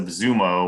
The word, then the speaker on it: Xumo: So I know in the case of Zumo, which is spelled XUMO, that on that one in December, Playing for a Way Out was in the top 5 on their app.